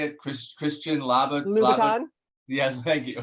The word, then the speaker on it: Christian Louboutin: Christian Louboutin, Yeah, thank you. Christian Louboutin.